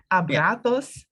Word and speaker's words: abrazos: our next phrase is a Brazos De Oso a prosos De Oso abrazos De Oso and I like this Z that they are writing it's not Z in Spanish it's the abratos De Oso bratos De Oso you